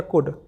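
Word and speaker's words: could: आपसे यहां पर मैंने बोल दिया कुड सी यू एल डी ठीक है तो यहां पर जो एल है ये फिर से अपने आप में साइलेंट है ठीक है तो ये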